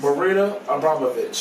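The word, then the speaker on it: Marina Abramović: Marina Abramovich.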